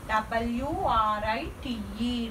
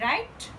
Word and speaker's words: write: Right, but here I wrote w-r-i-t-e, right. Here w is silent letter, don't pronounce bright, bright, right. I write homework, I write homework.